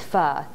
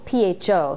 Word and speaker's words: pho: Today I'm going to make a quick Vietnamese pho. It's spelled P-H-O, so it looks like pho, but it's pronounced pho as in fun.